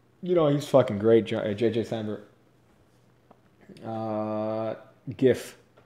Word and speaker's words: GIF: know he's great JJJ Sandra gif its gift that's how you say not just like a peanut butter it's gif the out of here dude if you say jiff I don't care if the owner of the